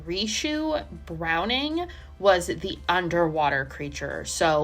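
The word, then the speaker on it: Ricou Browning: You had Ben Chapman, who played the creature on land, and then I think it's pronounced Rishu Browning was the underwater creature.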